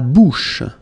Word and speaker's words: bouche: La bouche. So remember, CH combined together will give you this SH, SH sound.